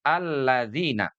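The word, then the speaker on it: الَّذِينَ: Tapi idza dza ujung lidah kita ini bersentuhan dengan gigi siri atas.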